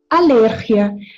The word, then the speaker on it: alergia: Yo tengo la primera palabra, es alergia en portugués, cuando nos rascamos mucho, nos, algo nos pica. Entonces, tenemos alergia. En español se pronuncia alergia. La misma palabra, prácticamente la misma escrita, pero pronuncias distintas, ¿vale?